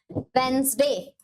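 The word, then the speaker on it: Wednesday: consider करेंगे हम वेनसडे वेनसडे pronounce किया जाता है वेनसडे ठीक है फोर आता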